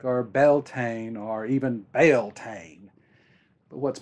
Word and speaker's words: Beltane: might say them differently belan is an englishy pronunciation and it's the pronunciation I first heard when I was starting